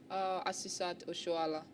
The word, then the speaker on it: Asisat Oshoala: Or to pronounce it? Asisat Oshoala.